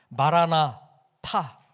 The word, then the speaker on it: 마라나타: 오셨다고 하는 과거이 버립니다 마라나타 이렇게 발음을 하시면 예수님께서 주님께서 우리들에게 오실 것이다라고 하는 미래형이 됩니다 그래서 마라 나타는이 대림절의